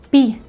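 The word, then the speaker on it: pays: Las fuentes consultadas aseguran que dicha palabra se creó a partir de una palabra francés que se pronuncia pi, se escribe P-A-Y-S.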